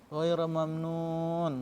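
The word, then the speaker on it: غَيْرَ مَمْنُونٍ: Ghaira mamnun, nunnya kalian panjang, mat arid sukun. Kalian dibaca panjang, jangan seperti ini membacanya.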